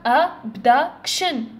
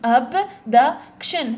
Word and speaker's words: abduction: حنا نشوفوا شنو هو السيلابول اللي رانا نطولوا فيه، نقولوا abduction ولا نقولوا abduction ولا نقولوا abduction. دونك هذه ما تصلحش، abduction ما تصلحش، abduction هذه تصلح، بصح abduction ما تصلحش.